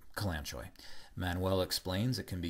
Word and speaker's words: Kalanchoe: This next herb is pronounced by Manuel as Kalanchoe. I've heard it pronounced many different ways. Manuel calls it Kalanchoe.